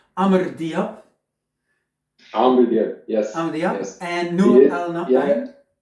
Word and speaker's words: Amr Diab: Hey, what we were listening to when we started this Friday Ketchup, I try again to pronounce it correctly. Amr Diab, Amr Diab.